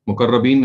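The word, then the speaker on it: مقربين: مقربین جو ہیں, مقربین اس کا صحیح تلفظ ہے, یہ تو سابقون کی کیٹیگری کے لوگ ہیں.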